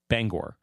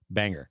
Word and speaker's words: Bangor: It's an O.